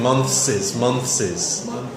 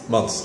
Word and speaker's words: months: And pronunciation-wise, you kept saying months. Months. Okay. Yeah, you're giving it a double S sound.